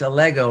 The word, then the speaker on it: Allego: co-founder and president of a lego did i pronounce this right yes you did it's a lego rhymes with legos what was the meaning